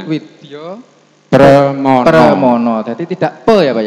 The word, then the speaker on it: Widya Pramana: Tulisannya begitu. Widyo Membacanya Permono ya Pak. Jadi ya. Widyo Permono.